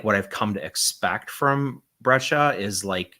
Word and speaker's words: Breccia: But I feel like what I've come to expect from Breccia is not this. And so it stood out even more to me. Yeah, it's fantastic. So it's Breccia, not Breccia. Yeah. Breccia.